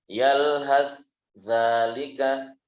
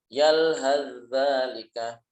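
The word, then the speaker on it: يَلْهَثْ ذَٰلِكَ: Yang kedua, yalhas zalika, yalhas zalika. Atau kalau diidghamkan yalhaz zalika, yalhaz zalika.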